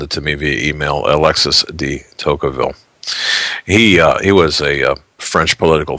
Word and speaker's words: Tocqueville: going to screw this last name up here, de Tocqueville. If you want to correct me in my pronunciation, you can phonetically spell it and send it to me via email, Alexis de Tocqueville.